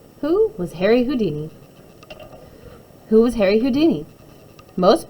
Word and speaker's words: Houdini: acrobat and a writer Harry Houdini pronounced who D knee didn't even really like